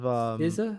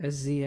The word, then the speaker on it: SZA: I actually have the list of SZA, is that how you say it? SZA? Is Yeah. that SZA? SZA? SZA, yeah, SZA.